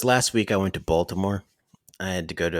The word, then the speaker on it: Baltimore: Last week I went to Baltimore. I had to go to a festival. I went to Baltimore. Gotta say, it's pronounced Balmore.